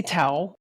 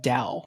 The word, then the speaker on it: Tao: So, you can say towel, but I think most most folks actually pronounce it dao, even though it's spelled with a we pronounce it dao. Yeah. So, it's the dao of programming.